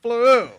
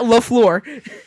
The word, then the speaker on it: LaFleur: Matt Fleur. No, it's Matt LaFleur. It's LaFleur.